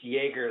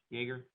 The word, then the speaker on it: Jaeger: It's Jaeger, like the drink. Okay. Like Right. the stuff you Okay. drink in college, Jaeger. Jaeger.